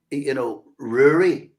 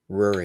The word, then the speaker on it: Rory: And Rory, as Sophie likes to insist that people pronounce this right, the Irish pronunciation. Yeah. Rory.